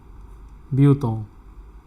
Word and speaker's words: Bhutan: So the pronunciation is Bhutan.